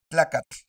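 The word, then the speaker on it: tlacatl: Ponemos la lengua en el paladar, eso sí es correcto, y sacamos una T. Ejemplos. Tlacat, siat, iskat, tokatl, tepet, altepet, masat, coatl. ¿Lo notan? Esa es la pronunciación correcta de la terminación TL.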